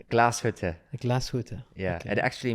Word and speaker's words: Glashütte: How do you pronounce Glashütte? Glashütte? Glashütte.